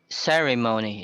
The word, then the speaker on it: ceremony: Ceremony is the same as testimony. Same sound. So the stress is on the first. Then the third syllable is the secondary stress.